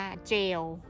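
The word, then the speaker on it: gaol: คือ อะไร ถาม สามี อัน นี้ อ่าน ว่า เจล ซึ่ง ก็ คือ J ail สมัย นี้ สมัย ก่อน นะ คะ เจล สะกด ว่า g a o l เจล สรุป อัน นี้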